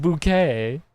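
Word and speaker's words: Bucket: It's pronounced bouquet.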